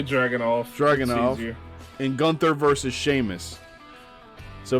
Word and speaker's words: Dragunov: Just say Dragunov. Just say Dragunov. Dragunov.